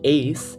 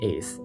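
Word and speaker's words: éis: You have O, es, e, emos, eis, and en. Note how there's an accent on the E. This means that you have to stress that vowel, so it would not be eis, it would be eis.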